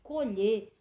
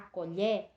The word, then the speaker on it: colher: primeiro caso nós temos quando eu digo vamos colher o som do Ó ele é fechado e no segundo caso nós vamos observar a colher o som do é é aberto então por isso essa